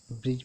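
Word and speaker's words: bridge: इससे example, ब्रिज ब्रिज देखिए, जी से पहले यहाँ पे डी आया है तो ये डी साइलेंट है, ब्रिज पढ़ा गया है, ब्रिज में पुल होता है।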